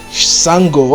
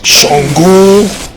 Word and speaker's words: Shango: very long time because they did not pronounce it well. I was like, Sango, okay, he's saying Sango, and then I was scrolling one time, I was like, African references in anime, and I was like, he pronounced one West African, wait, Shango.